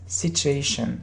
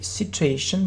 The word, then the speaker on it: situation: Tell us more about this situation. Yeah, look, how do we pronounce this word?